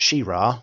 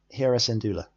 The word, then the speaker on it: Hera Syndulla: It's not She-Ra because there isn't a dash. It's Hera Syndulla. That's how you pronounce it.